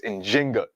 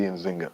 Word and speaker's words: Njinga: modern scholarship has shown the more correct way to pronounce her name and in Kimbundu, the language that she spoke is with the J. So it's Njinga, and Bandi, but you'll also see Nzinga.